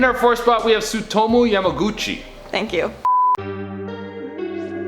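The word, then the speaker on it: Tsutomu Yamaguchi: SUTOMU Yamaguchi. Japanese is like exactly how it's spelled.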